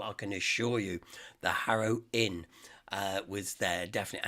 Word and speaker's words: Harrow: can assure you the harrow inn uh was there definitely and it's harrowed with a h not an a because you know you inkly people are like don't pronounce ages so the hera see